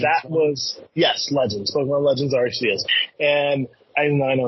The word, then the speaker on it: Arceus: Pokemon Legends Arceus. And I know it's pronounced Arceus, whatever.